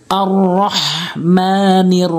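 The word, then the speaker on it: الرَّحْمٰن: রাব্বিল আলামিন রাব্বিল আলামিন আর রহমানির রাহিম আর হামজা র জবর আর রহা জবর রহ অনেকেই বলে রহ ছোট হাইনে উচ্চারণ করে অর্থ চেঞ্জ হয়ে যায় মিম জবর মা এক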